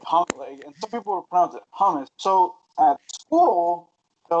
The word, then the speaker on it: hummus: we all know Hamas and yes it's pronounced hummus I know lots of people like to say hummus hummus and hu mmm us not houmous hu em us and this hummus right